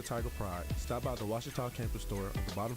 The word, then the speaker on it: Ouachita: Wichita. Ouachita. Is it pronounced Ouachita? Searching for Ouachita Baptist University. Back in Texas, everybody pronounces it Wichita, but really, it's Washita.